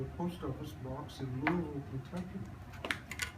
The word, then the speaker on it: Louisville: post office box in Louisville, Kentucky. By the way, that's pronounced Louisville.